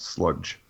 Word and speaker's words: Slugdge: Now say it properly well. And I mean think about it before you J. You don't have to go J. Just sludge.